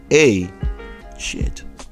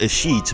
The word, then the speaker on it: Ashit: Like it was legit spelled A shit. Crazy, right? He said it's pronounced a sheet, but no, you come to this country, we're gonna pronounce it how it's spelled. You're a shit, okay?